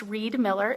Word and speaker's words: Riedmiller: is Reed Miller my last name is pronounced Reed Miller isn't that perfect it's